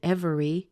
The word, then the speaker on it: every: look what happens here this is one of those words where the e gets squeezed out and you end up with just two syllables so instead of saying every we end up with